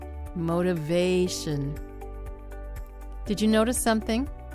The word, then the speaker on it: motivation: Motivation. Motivation. Motivation. Did you notice something? Many longer English words place the stress near the end rather than the beginning of the word.